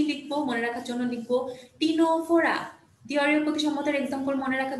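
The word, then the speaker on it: Ctenophora: মনে রাখবা অবশ্যই বাট উচ্চারণটা খেয়াল করে পড়বা যে এটা হচ্ছে টিনোফোরা ঠিক আছে সিনেটোফোরা না বাংলায় লিখা থাকলে কিন্তু টিনোফোরা লিখা থাকবে আর সিওনোপ্লানা একটু খেয়াল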